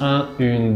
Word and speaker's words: un: Un es un sonido nasal. De hecho, cuando lo pronuncian, el paladar blando de su boca está bajando y así eso hace que el aire pasa por su nariz.